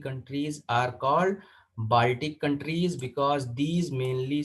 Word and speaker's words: Kiel: इस कैनाल को बोलते हैं कील कैनाल। तो कील कैनाल इज इंपॉर्टेंट, याद रखिएगा, कील। तो KIEL इसकी स्पेलिंग है, मैं यहाँ पर लिख दे रहा हूँ, KIEL, कील कैनाल इज इंपॉर्टेंट।